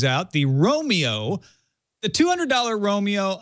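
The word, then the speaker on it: Roamio: The Romeo, the $200 Romeo, I don't think should be called Romeo. It's spelled R-O-A-M-I-O.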